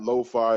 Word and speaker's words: LeauxFi: want to find me or my team at lo-fi across the board if i have it it's at l-e-a-u-x-f-5 i spell it that way people ask all time i